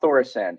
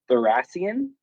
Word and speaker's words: Thoracion: say his name because it's not thoracin it's like thoracion uh maybe his son